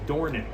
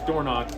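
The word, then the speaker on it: Dornoch: knock in the has there's a town overseas and it's pronounced dornic but all the owners call the horse Doro so because the owners call the horse door knock I'm going to call the horse door KN and usually how it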